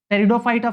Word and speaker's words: Pteridophyta: फिर आता है टेरिडो, देखो पी से स्टार्ट हो रहा है, पी साइलेंट रहता है, PTERIDOPHYTA, टेरिडोफाइटा।